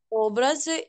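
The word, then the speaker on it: obrazy: Чаще люблю малювати образи і портрети. Було правильно перший раз. Образи на передостатній слог. В слові образи три слова, так? Наголос на передостатній.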